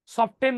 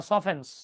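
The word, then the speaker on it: softens: মানে উচ্চারণটা ভুল করে সফটেন বলে ওটার উচ্চারণ কিন্তু সফটেন না সফেন্স সফেন্স নট সফটেন্স হিট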